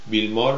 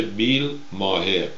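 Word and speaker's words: Bill Maher: بیل مار رو هم اگه مثل ایرانی میخوایم تلفظ کنیم میشه بیل ماهر، MAHER، بیل مار اینجا میگن.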